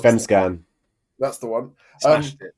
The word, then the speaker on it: Allsvenskan: mispronounced that. Allsvenskan.